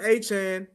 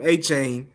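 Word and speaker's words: Achane: It's like look Devon Achan is if we said his name wrong forever and a day. We've been calling him Achain. Forever and a day. And his name is Achan.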